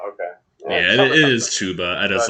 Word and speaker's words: Chuba: i just like to say it's it is chuba okay yeah it is chuba i just like saying chaba to say chapahaba